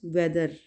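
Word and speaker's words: whether: द next word is वेदर। वेदर, वैसे तो एच की साउंड हा होती है ना, ह, ठीक है। तो यहाँ पे हम इसको साइलेंट करेंगे और प्रोनाउंस करेंगे वेदर, ठीक है, वेदर।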